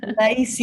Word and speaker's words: laïcité: such as the French, Nazha, you can probably pronounce this so much better than me, but laïcité. Say it, sorry. Laïcité.